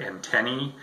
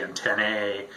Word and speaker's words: antennae: Quick point, anytime you see the letters A and E, like in the word antennae, it's pronounced E. A lot of people say antennae, or, you know, mess it up in other ways. It's okay to say antennas if you have to, but anytime you have AE at the end of the word, throw the E sound at the end of that.